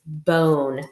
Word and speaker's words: bone: bond on your number but since we have two silent e it says bone makes a long sound all right this next